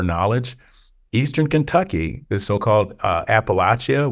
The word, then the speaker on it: Appalachia: Eastern Kentucky, the so-called Appalachia, we all pronounced it wrong, calling it Appalachia.